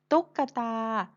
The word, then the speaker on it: ตุ๊กตา: ไหม คะ ที่ กะ ตุ๊กตา เป็น คำ ที่ ไม่ ประวิสรรชนีย์ เพราะ เวลา เรา เขียน ไม่ มี รูป สระ อะ แต่ เวลา เรา อ่าน เรา อ่าน ออก เสียง สระ อะ ค่ะ คือ ขนม ขนม เป็น